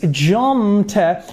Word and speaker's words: jumped: It's not jumped, it is jumped, because here this p is unvoiced, and we represent unvoiced with the minus v. So it is a t sound. We pronounce jumped.